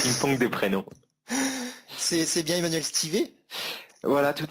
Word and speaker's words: Emmanuel Stivet: C'est bien Emmanuel Stivet?